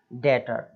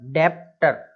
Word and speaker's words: debtor: Next इसमें देखिए क्या लिखा हुआ है, DEBTOR, डेटर, डेप्टर ऐसा नहीं बोलना, डेप्टर, हाँ, डेटर, केवल क्या बोलेंगे, डेटर, टी के पहले बी आ रहा है इसलिए उसको भी साइलेंट कर दिया, कर्जदार जो होते हैं उसको बोलते हैं हम।